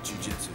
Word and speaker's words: Jiu-jitsu: Jiu-jitsu.